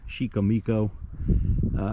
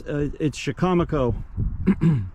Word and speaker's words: Chicamaco: It's kind of comical to hear that word mispronounced. Chicamico, many others. But it's Chicamaco.